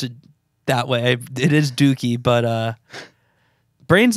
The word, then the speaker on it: Dookie: 20 year or 30y year anniversary of um doie all the way through in like a smaller